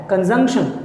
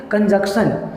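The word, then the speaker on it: conjunction: एक चीज़ और आपको बता दूं कि इसको पता नहीं क्यों बहुत लोग प्रोनाउंस करते हैं कंजक्शन। तो ये याद रखिएगा, ये कंजक्शन नहीं है, इसका रियल प्रोनाउंसिएशन जो है वो है कंजंक्शन।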